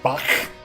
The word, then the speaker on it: Bach: The Bach sound is much harsher, like clearing your throat. Bach.